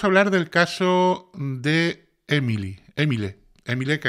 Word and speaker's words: Émile: hablar del caso de Emily emile emile que aquí en España me dijeron que era como Emilio y que en francés se pronuncia emil Bueno pues emil sabéis